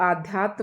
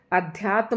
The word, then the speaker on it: अध्यात्म: इसे आध्यात्म नहीं बोलना है। अध्यात्म होता है और इसी प्रकार से लिखा जाएगा।